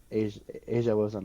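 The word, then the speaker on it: A'ja: straight up that's how you pronounce her name Asia. Yeah, like the continent.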